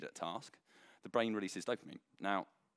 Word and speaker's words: dopamine: So I've actually written, and I wish you could see it, I've written D-O-H per mean, like that, just so I can actually say it correctly. So dopamine is basically, it's produced